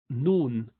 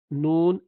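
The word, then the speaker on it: ن: illa Allah and then the same tip of the tongue would touch the top and he pronounced the letter noon and an hard palate again and and noon has half of its sounds coming house of sound coming from the nostril so and you continue to move it so the nasal passage would continue to be part of this pronunciation so and you do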